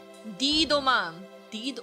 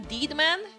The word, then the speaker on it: Deedoman: Deedoman. Oh, the deed. Oh! Is that how you pronounce it? Not dead man? Deed man?